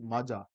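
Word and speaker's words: Majha: is it Maja region I'm using Double J for all those who don't know Punjabi because it is Maja right and fire hydrated people would have read said it wrongly all right foreign ergy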